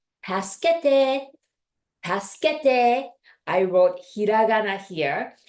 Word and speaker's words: 助けて: So 助けて, you can think of it as task, like task, and then you're gonna add schedule, 助, 助, and then you're gonna add te, as in 10, number 10's 10.